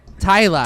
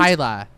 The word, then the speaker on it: Tyla: um was okay I'm going to pronounce her name wrong T Ty Ty Ty Tyler Tyler yeah the sand Tyla she was she was my favorite absolute favorite